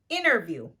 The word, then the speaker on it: interview: Here are some words that include a silent T: interview, winner, gentle, advantage. As you can see here, I'm not pronouncing the letter T.